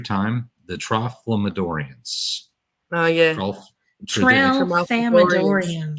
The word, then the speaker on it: Tralfamadorians: the same thing as now I'm going to pronounce this wrong every time, the Tralfamadorians. Oh, yeah. Tralfamadorians. Tralfamadorians.